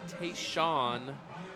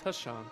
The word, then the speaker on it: Tashawn: That is Tayshawn. I'm sorry, it is Tashawn Townsend, because he will kill me this week for pronouncing his name wrong again.